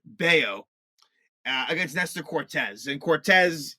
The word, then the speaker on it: Bello: So I had pronounced it wrong. I thought it was Bello. It's actually Bayo against Nestor Cortez.